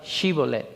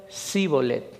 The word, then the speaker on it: Shibolet: Si él respondía, no, entonces le decían, di pues la palabra Shibolet. Pero él decía Sibolet, porque no podía pronunciarla correctamente.